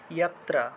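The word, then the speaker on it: যত্র: ইয়াত্র, এই যে রফলাটা র হিসেবে উচ্চারিত হলো, ইয়াত্র। দুঃখান্তম চ, দুঃখ, ঠিক আছে, দুঃখান্ত চ নিগচ্ছতি, নিগচ্ছতি, ছয় ছয়, নিগচ্ছতি।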